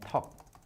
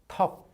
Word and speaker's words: 턱: 떡 and 턱. 떡 and 턱.